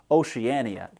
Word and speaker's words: Oceania: It's a little less confusing to call it Oceania and it's a lot more fun to say Oceania just like the word guts.